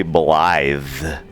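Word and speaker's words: Blaidd: do you say it they they seem to say blithe is what it sounds like they're saying but it's not how it's spelled yoink help me find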